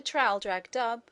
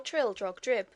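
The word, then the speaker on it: Traldragdubh: It contained a warrant for conducting me and my retinue to Traldrag Dub, or Trildrog Drib, for it is pronounced both ways as near as I can remember, by a party of 10 horse.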